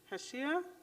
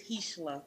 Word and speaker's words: Hishla: Heshia? Am I pronouncing your name correctly? It's Hishla. Heshia.